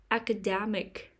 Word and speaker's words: academic: third syllable puppeteer perpetual academic academic the stress is on the third syllable academic academic classical music